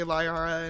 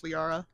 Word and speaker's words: Liara: I know how that goes, because everybody tries to say Lyara, and it's Liara, so.